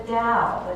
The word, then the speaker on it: Tao: It's kind of a funny word because it's spelled with a T, but we pronounce it as if it's a D. And so we talk about the Tao.